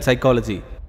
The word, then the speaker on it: psychology: I don't know why P is silent in psychology, but I do very well know why these books are lying here.